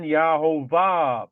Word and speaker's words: Yehovah: So this is evidence right here that up here H3068 should have been Yahovah because H3068 is Yahovah.